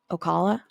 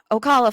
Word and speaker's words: Ocala: Ocala? I think. Yeah, Ocala, Florida.